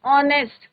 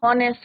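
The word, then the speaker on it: honest: ऑनेस्ट, कई बार बच्चे क्या बोलते हैं, हॉनेस्ट बोलते हैं, इट इज नॉट हॉनेस्ट, एच is your silent, ओ का ब्रांच है ना ऑनेस्ट।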